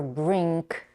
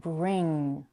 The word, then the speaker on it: bring: or as as bring in the word bring we have two challenging sounds the American r r r and not the r many languages have and the sound at the end notice that it's not bring or Brink but bring to produce the you